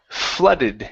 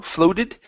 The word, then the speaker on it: flooded: This word here is pronounced flooded instead of flow, floated. Flooded.